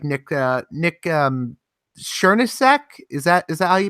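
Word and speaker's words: Srnicek: people like Nick Nick sureness sack is that as al you pronounce his name I want capitalism I only met him one time but I think you say Serena check Serena check okay yeah I I think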